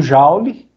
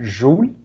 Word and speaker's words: Joule: A energia, a gente usa o Joule, ou Joule, que ele é francês, né? Então o certo seria a gente pronunciar Joule, mas o pessoal habituou-se a chamar Joule, então não faz diferença, tá?